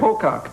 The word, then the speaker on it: Pocock: Pocock.